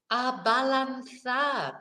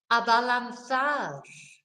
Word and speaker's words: abalanzar: Abalanzar. And this is to balance. You know, so again, balanzar is, you know, nice and easy. It sounds like what it is in English, balance.